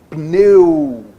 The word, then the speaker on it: pneu: Então eu tenho que falar o P e o N quase junto. Por isso que a gente fala que o P é mudo. Pneu.